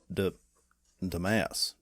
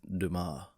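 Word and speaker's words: Dumas: Uh, the Count of Monty Krisco by Alexandria Deamass. Dumbass. Uh, what's that? That's pronounced Duma.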